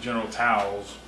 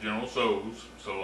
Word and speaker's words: General Tso: I think I used to pronounce it General Towels. and she let me know that was not how you pronounced it. She said you pronounce it general so I have pronounced it that way ever since.